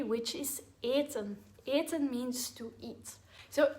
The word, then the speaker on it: eten: Be aware that eten is conjugated a bit differently because of the long e sound at the beginning.